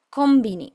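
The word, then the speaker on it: コンビニ: Luego tenemos ko n bi ni, acá vuelve a pasar lo mismo de que como luego sigue una be larga, este sonido se pronuncia más similar a una m del español. Kombini, kombini.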